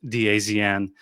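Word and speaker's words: DAZN: After the match, head coach Igor Tudor shared his thought thoughts with uh the zone, which is by the way, that's not how it's pronounced, dazen.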